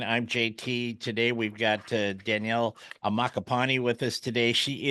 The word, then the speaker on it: Danielle: We're going to be back with Daniela Ammaccapane. Did I say it right that time? Danielle. Okay, Danielle. Okay, I'm getting there.